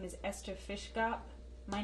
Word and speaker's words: Fiszgop: EF: My name is Ester Fiszgop-- pronounced in Polish-- Fiszgop.